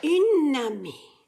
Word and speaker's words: une amie: So you wouldn't just say nami, you would say, what is this, feminine? Une amie, une amie. It's just the slurred together part, so you see how it's pronounced.